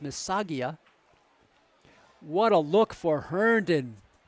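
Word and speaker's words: Missaga: there by Andre Mia m i SS a g a I believe that's pronounced msaga what a look for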